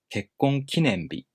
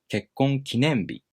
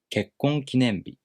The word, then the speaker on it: 結婚記念日: a middle-high pattern word, the following part keeps its original pitch accent pattern.